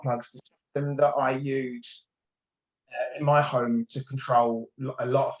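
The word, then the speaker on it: MiHome: The system that I use in my home to control a lot of things is a company called Energenie, and they've got a range called My Home, and that's spelled MI-Home.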